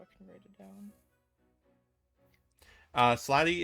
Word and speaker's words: Slaadi: Slady is spelled Slaadi. That's the plural form.